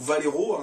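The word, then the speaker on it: Vallejo: large gamme de peinture valléjo ou valero comme on prononce qui propose également pas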